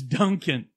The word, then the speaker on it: Duncan: town that we know that we can pronounce mainly because it sounds like Dunkin Donuts is Duncan and this year they're